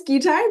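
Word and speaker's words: GITAI: so first and foremost Mary did I remotely get that correct with the pronunciation I believe it's gai but we're you know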